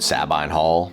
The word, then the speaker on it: Sabine Hall: Oh, and also I've always pronounced it, Sabine Hall. That's how I've always heard it said around here as opposed to the Sabine people of Italy.